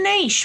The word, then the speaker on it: niche: Okay, finding a niche rhymes with peach.